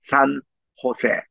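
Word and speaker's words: San José: 이제 가까이에 보면 1720년에 가톨릭의 선교부가 되는 미션 산호세 이게 그 스니 말로는 h 발음으로 합니다 그니까 이제 조세가 아니고 세라고 읽어야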